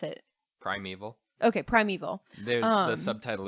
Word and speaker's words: Primeval: How do you pronounce it? Primeval.